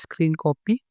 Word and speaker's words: Scrcpy: Here this is the GitHub page of this tool, and it is pronounced as screen copy.